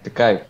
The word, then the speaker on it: De Kuip: Ya, jadi waktu itu kita ke tempat De Kuip ya itu waktu itu ya, atau tempat latihannya De Kuip ya kalau bacanya. The Cape ya, The De Cape.